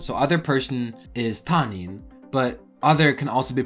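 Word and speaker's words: 他人: So other person is tanin, but other can also be pronounced hoka.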